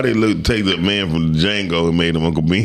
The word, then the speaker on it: Django: Jackson on the Django. He did. On Django, I said the Django. Let's make him. The D is silent. Not really.